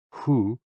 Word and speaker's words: hu: associated with the kidneys h o o pronounced like who which is associated with the spleen and X I pronounced